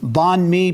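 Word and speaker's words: bánh mì: And I think I'm pronouncing this right. Banh Mi Barista?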